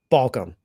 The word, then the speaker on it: Balcom: You have to walk the talk, Balcom. Is that right? Balk, talk, walk, chalk.